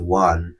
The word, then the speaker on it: won: আমি তোমাদেরকে জানিয়েছি যে WO এর উচ্চারণ কিন্তু ওন হয় না, কি হয়, ওয়ান।